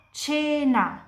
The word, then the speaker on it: cena: Jadi kapan di bahasa Italia kalian lihat C diikuti dari E atau dari I pronunciasinya itu kayak campur C. Jadi ini dibaca cena, ini dibaca cha, ini dibaca cintura.